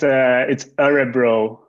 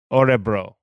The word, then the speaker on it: Örebro: It's Örebro. Örebro.